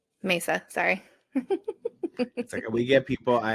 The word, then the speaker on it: Mesa: So yeah, and uh I think she was I think she was murdered by an ex-husband in Arizona in Messa. I think Mesa. Mesa.